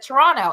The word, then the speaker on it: Toronto: So I was like Toronto, and Pam's like, no, you can't. You have to drop as many hard consonants as you can.